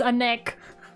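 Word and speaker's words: ànec: Yes, anek. It's spelled A-N-E-C. Anek.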